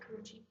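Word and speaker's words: Karrueche: And so the four ladies we chose to kind of profile or to discuss are Karuchi Tran. Is that how you say it? Yep, Karuchi.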